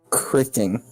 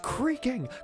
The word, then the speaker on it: creaking: It did sound like I said cricking, but I meant to say creaking. Yeah, you meant to say creaking, what you said was cricking. Cricking. It's pronounced creaking!